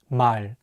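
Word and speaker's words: 말: means word or language the real consonant is at the end of the word so it will be pronounced as L let's say together my remember that in English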